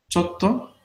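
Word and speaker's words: ちょっと: Chotto Oh, atsui desu. Entonces, así la va contraída. Pequeño tsu para doblar la consonante T y sílaba to, ¿no? Entonces, chotto.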